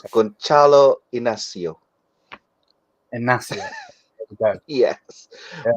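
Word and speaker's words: Inácio: Bear It's with me one pronounced second. Gonçalo Inacio. Inacio.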